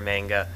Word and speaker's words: manga: It's just a little buggy thing, but it's pronounced manga.